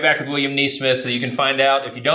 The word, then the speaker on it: Nesmith: It's spelled like Mike Nesmith of the Monkees. Smith with an N-E in front of it.